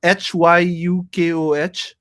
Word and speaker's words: Hyukoh: Let me just make sure that I pronounce it right. So it's Huko, right? Hyukoh.